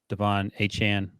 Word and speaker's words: Achane: Sorry, that's how he was pronounced. Yep. Achane.